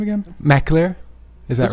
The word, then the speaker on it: McAlear: your personal Flair first of all could you pronounce my last name again Mac clear is that right oh good yeah I always